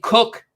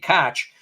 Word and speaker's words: Koch: For free, you go on there because Dave Cook, because now I know how to pronounce the last name thanks to you guys. I used to keep saying Koch.